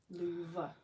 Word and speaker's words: Louvre: painting that is currently in the loo the Louvre and you know Van Gogh that we're pronouncing his name isn't Van Gogh it's he's